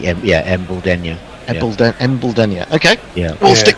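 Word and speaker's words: Embuldeniya: I'm going with Embledenia. Embledenia. Okay. Yeah, I was given some intuition in this before, Hendo, from both Tony and Nestlers, and they were saying, Embledenia.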